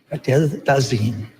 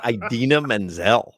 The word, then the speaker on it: Idina Menzel: please welcome the wickedly talented one and only Adele Dazeem. Please welcome the wickedly talented one and only Adele Dazeem. That's Idina Menzel.